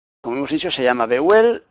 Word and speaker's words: Vehuel: Como hemos dicho, se llama Beuel. Si lo partimos en 3 sílabas será Beuel. Su número es el 49.